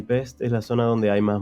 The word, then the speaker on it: Pest: dividida en buda y pest que en realidad se pronuncia peste budapest en la zona